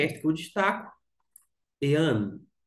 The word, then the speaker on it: Ἐὰν: tem a sintuação porque aqui está indicando a sílaba tônica tá bom a primeira palavra é esta que eu destaco ean ean ainda que se pode ser traduzido de uma